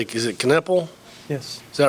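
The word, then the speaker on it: Knueppel: One time he left I can't pronounce it. How do you say, is it Kneppel?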